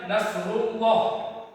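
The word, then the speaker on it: نصر الله: Cuman rnya dia kan ee ber apa? berbentuk ee dombah kan. Jadi dibaca tebal. Jadi cara membacanya nasrullah.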